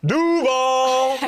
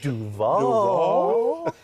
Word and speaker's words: Duval: Ever since Liam Cohen has been getting recommendations on how to pronounce Duval the right way. He went Duval. How would you pronounce it, James? Duval. What's your Broadway one? Duval. Yes, they all work.